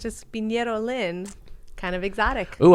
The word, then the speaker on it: Pinero: Pinero. Pinero.